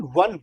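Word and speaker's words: won: यानी कल, तो विन वन वन, तो Sita वन the match yesterday. उसको वॉन नहीं कहते हैं, इसको वन ही कहते हैं, just like ONE, वन, same pronunciation.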